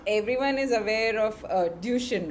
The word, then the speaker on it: Duchenne: dystrophy but not everyone is aware of uh duchin right that's the right pronunciation yeah yes muscular dystrophy so could you